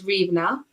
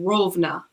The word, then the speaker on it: Rivne: Like, for example, where I lived was Rivne, but Rovna in Russian.